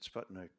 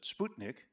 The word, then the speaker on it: Sputnik: Of course, we pronounce it Sputnik. In Russia, we pronounce it Sputnik, which actually means little traveler in Russian.